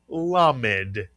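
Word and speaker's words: למד: This is the letter lamemed.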